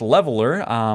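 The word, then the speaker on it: Leveilleur: Then we move on to Alice Leveler, which is going to be pronounced Leveler for my non-French speaking simplification here.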